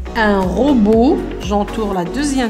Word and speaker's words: robot: Beau, un robot. Le T ne se prononce pas. C'est une lettre muette.